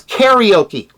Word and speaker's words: karaoke: You pronounce it karaoke. Yeah, that's karaoke with a care at the front, okay?